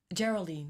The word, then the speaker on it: Geraldine: Geraldine.